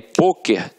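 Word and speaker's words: pôquer: por isso ela é acentuada só que aí poker tem uma pronúncia fechada E aí leva o assento circum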